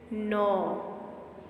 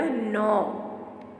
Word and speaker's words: gnaw: रॉ, saw, jaw, law, paw, caw, claw, draw, flaw, saw, gnaw. It's G and phonogram ना. So G is silent. यहाँ पे G की कोई sound नहीं होगी. ओके बेटा. gnaw, saw, straw, jigsaw, outlaw, seesaw, withdraw.